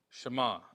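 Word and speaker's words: שְׁמַע: here is the word shama that's just how it's pronounced in Hebrew we see that here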